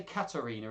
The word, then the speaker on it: Katharina: I'm going to say Katerina, even though it's got an H.